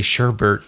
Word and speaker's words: sherbet: I feel like now I got to say sherbet, just so you know what I mean. I know what you mean, yeah. Orange sherbet. I'm just like sad I've been saying it wrong my whole life.